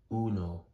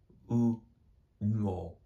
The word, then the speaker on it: uno: U no. U no. UNO. Uno is how one is sounded. Dos, tres. Don't forget the vowel pronunciation. The U sounds pronounced ooh. Now try to pronounce uno together. Excelente.